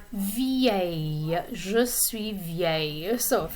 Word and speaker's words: vieille: It has a lot of vowels in it in the middle there, but it's pronounced vieille.